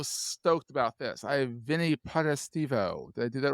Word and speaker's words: Potestivo: Because you one of the Italian names that could be like wherever you put the syllables, it can be completely different from how you say it the other way.